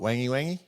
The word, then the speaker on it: Wangi: For non-Australians, it's pronounced Wangi, but we call it Wangi just because it sounds fun.